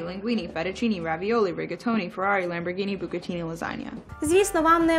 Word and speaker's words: Lamborghini: Не знаю, чому українці мовляють там «дж». Але й в Італії, звідки ця машинка родом, і в Америці ви почуєте «ламборгіні». Spaghetti, linguine, fettuccine, ravioli, rigatoni, ferrari, lamborghini, bucatini, lasagna.